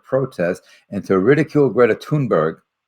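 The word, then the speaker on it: Thunberg: and to ridicule Greta tun Berg the H is silent in Sweden a 16th she's now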